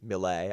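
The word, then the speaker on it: milet: artist, Millet, I think is how you pronounce her name. The Right. T is silent, if I'm assuming I'm correct.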